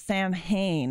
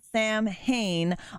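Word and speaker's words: Samhain: I pronounce it Sam Hain on purpose. I play a character, so I'm supposed to be an embodiment of Sam Hain, the holiday, just pronounced differently, entirely up to you.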